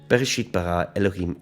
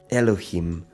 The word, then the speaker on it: Elohim: the Ed Harris and here how I'm placing emphasis on the last syllable of every word except where there's a little accent mark which indicates differently so in this first